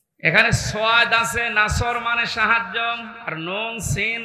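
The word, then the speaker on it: نصر: এখানে সোয়াদ আছে নাসর মানে সাহায্য আর নুন সিন র নাসর মানে এগোল্প পাখি আপনি যদি মুখটা গোল করে শুদ্ধ করে উচ্চারণ না করেন অর্থ আকাশ পাতাল পাল্টিয়ে যাবে আল্লাহ পাক বলেন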